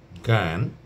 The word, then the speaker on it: জ্ঞান: খুব মজার বিষয় কিন্তু অর্থাৎ শব্দের শুরুতে যদি ব্যবহৃত হয় তাহলে উচ্চারণ হবে গ এর মত আর যদি মধ্যে বা শেষে ব্যবহৃত হয় তাহলে গ এর মত অর্থাৎ এই যে সংযুক্ত বর্গীয় জ এবং ইয় তার কোনটারই কোন উচ্চারণ এখানে আসবে না।